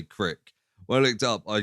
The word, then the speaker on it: Crick: Crick yeah so I I wasn't sure if it was Craig how you know Americans pronounced Craig in a an interesting way but I looked it up and it is like KR a i k or k-r-i-k so I didn't say